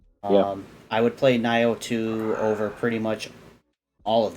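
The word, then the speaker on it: Nioh: You got Nio and Nio2. I think they're pronounced Neo. Whatever. I call him Nio because it pisses people off and I think it's funny.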